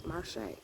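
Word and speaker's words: Marshe: here to celebrate one of my best friends marshay we've been friends since the sixth grade and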